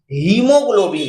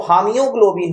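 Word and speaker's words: haemoglobin: हीमोग्लोबिन है, नहीं तो हामियोग्लोबिन हो सकता था ये, लेकिन हीमोग्लोबिन ए क्या हो गया है, साइलेंट हो गया है।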